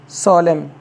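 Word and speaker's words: solemn: ओ एल एम एन तो एन से पहले एम आ गया तो यहां पर एन साइलेंट हो जाएगा तो जिसका जो कि क्या पढ़ा जाएगा सोलम जिसका मतलब गंभीर होता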